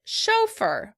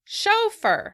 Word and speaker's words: chauffeur: In British English, the word is said chauffeur. Chauffeur. In American English, the word is pronounced chauffeur. Chauffeur. As you can see, we're shifting the stress to the end of the word.